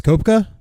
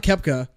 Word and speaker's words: Koepka: I actually can't pronounce Brooks koepka no not Kefka the guy chef Jose